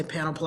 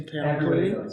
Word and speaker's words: Panoply: Many of you probably heard me pronounce that wrong and say panoply, and it's supposed to be panoply.